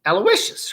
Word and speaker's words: Aloysius: funny huey hughes aloysius alloy wish alloy is that how do you say that alloy alloys aloysius right yeah aloysius alabaster aloysius alabaster